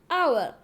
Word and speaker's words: hour: से पहले, मतलब HOUR, इसको हावर हावर बच्चे बोलते हैं, जो कि गलत है, इसकी सही प्रोनाउंसिएशन है आवर।